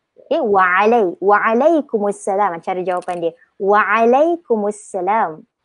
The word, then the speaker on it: Waalaikumsalam: Kita boleh jawab dengan Waalaikumsalam. Tu waalaikum. Okay, Waalaikumsalam cara jawapan dia. Waalaikumsalam. Dia akan emphasize dengan huruf ain dia. Dia akan tekankan Waalaikumsalam.